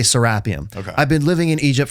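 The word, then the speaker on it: Serapeum: People say serapium. You you corrected me. You're the first person who ever taught me that it's actually sarapium.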